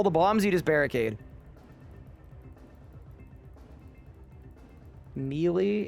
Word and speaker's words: melee: Melee?